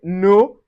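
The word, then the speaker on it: Noël: Now the tréma separates a vowel from distinct pronunciations just like in noel. So we say noel.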